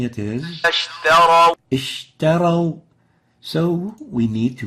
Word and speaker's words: اشتروا: اشتروا اشتروا اشتروا. So we barely can hear the sheen. And the right way of pronouncing it is اشتروا اشتروا.